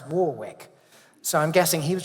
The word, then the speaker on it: Warwick: But when Les Deux finally closed in 2010, Sylvan opened another club and called it Warwick, which the Americans pronounce Warwick.